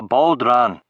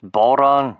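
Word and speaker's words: bodhrán: He's a Baldran. A human Baldran, Bob said until told him to quit it. He let me go. It's pronounced Boron, you ignorant shite, I said to Bob.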